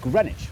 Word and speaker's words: Greenwich: East London suburb of Greenwich where you don't pronounce the W or one of the